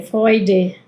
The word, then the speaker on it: Freude: se vuelve "ai" y la E U que se vuelve "oi". Ui. Em, "oi". Como en la palabra Freud. Freud, no el nombre Freud, pero Freud también significa alegría, ¿bien? Eh, Freude, ¿no? Con la E al final. Am, acá la tenemos la